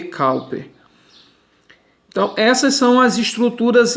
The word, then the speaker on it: Cowper: Não é, se escreve Cowper, mas se lê Cowper.